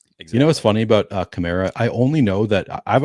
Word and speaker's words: Kamara: It's like Camaro. So I've always remembered it as being Kamara, but now apparently just doesn't even matter how you pronounce it.